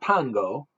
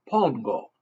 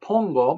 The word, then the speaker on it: pongo: 101 Dalmatians that's not Pango that's Pongo O's are always o in Spanish but Pongo means I put or